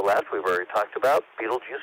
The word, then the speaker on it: Betelgeuse: The brighter one to the left, we've already talked about, Betelgeuse or Betelgeuse, that's how I pronounce it.